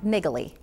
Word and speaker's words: Naegeli: With us now is Andy Presti, and he is with Presti and Naegeli. That's correct. You pronounced it correctly.